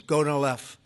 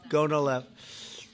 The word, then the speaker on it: Gonal-F: So it's Gonal-F. Is that a proper pronunciation? Very Close well enough, done. Right? Well Gonal-F.